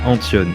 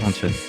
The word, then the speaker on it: Antton: Tu l'as très bien dit, c'est Antion, ça se prononce Antion. Ça s'écrit bizarrement, mais ça se prononce Antion.